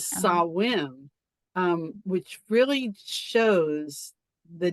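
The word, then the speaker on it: Samhain: in that the language the Sam hanne you were talking about earlier that they just found out that the way to pronouncing is saim um which really shows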